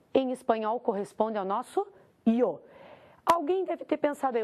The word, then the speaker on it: yo: do local da pronúncia Quando você estiver na Espanha maior parte da Espanha o y que o Yo é y o ele vai ser pronunciado como i o y é pronunciado como I aqui na América na maioria da América ele é pronunciado como J então para você não